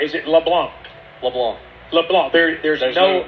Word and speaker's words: LeBlanc: Maurice Louisiana oh my goodness now am I pronouncing it correct is it LeBlanc LeBlanc LeBlanc there there's no no C no